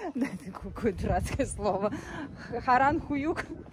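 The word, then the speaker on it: Harran Höyük: Но вообще, вот это место, Харанхююк, да, это какое дурацкое слово, Харанхююк, господи. В общем, это так на турецком произносится, на самом деле.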